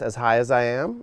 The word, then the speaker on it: Azhiaziam: from Moro Bay here it's pronounced as high as I am is how you say the name and as high as